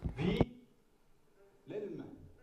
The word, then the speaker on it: Wilhelm: Wilhelm. Comme ça se prononce, en fait.